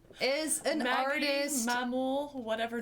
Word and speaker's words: Maghmul: Magmul is an Maggie, artist. Mamul, whatever name you go Yeah, by. how do you pronounce it yourself? Mamul.